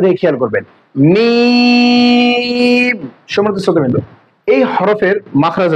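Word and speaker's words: ميم: এরপরে দেখেন মিম। এই হরফের নাম হচ্ছে মিম। উচ্চারণ দিয়ে খেয়াল করবেন, মিম। সম্মানিত শ্রোতাবৃন্দ, এই হরফের মাখরাজ হচ্ছে 2 ঠোঁটের শুকনা অংশ থেকে, 2 ঠোঁটের শুকনা অংশ থেকে, মিম।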